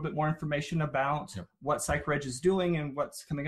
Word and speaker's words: Psychreg: out there and it's psych reg dot org psy CH r EG org and it's pronounced psych reg not sacred act mispronounced enough but most of us as